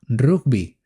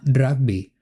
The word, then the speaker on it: rugby: En España decimos rugby, no rugby, como en inglés. Pero veo que en otros países hispanohablantes sí lo pronuncian de ese modo.